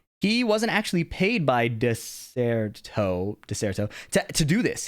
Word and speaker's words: Dexerto: my audience for uh I didn't know how to say this apparently it's called deserto I thought it was dexerto anyways I know a